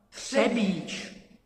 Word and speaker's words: Třebič: Třebič. You know? Just regular Czech word.